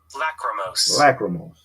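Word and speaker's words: lachrymose: remorse I had it right the second time lacrimos tearful or giving to weeping in contrast to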